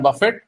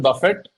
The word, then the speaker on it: Buffett: greats like Benjamin Graham who Guru of Warren Buffett Warren Buffett of course you all know and that's the correct pronunciation Buffett it's not Buffet it's not he's not lunch